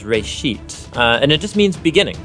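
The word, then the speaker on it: בראשית: from a Hebrew word it's pronounced race sheet and it just means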